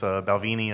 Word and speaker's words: Balvenie: Yeah, so I liked, the Glendronach's, Balvenie, I believe is the correct pronunciation as well.